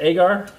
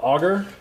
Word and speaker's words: agar: They basically extraction from a red algae cell walls is what agar is, and I pronounce it agar. Some people call it agar. I'm from the south, so agar sounds better to me.